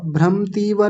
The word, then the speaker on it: भ्रमतीव: अगला शब्द क्या है भ्रमतीव भ्रमतीव व भ्रमतीव भ्रमती व नहीं भ्रम म को पूरा रखेंगे भ्रमतीव च में मनः ये